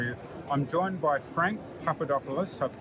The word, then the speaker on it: Papadopoulos: I'm joined by Frank Papadopoulos, I pronounced that okay?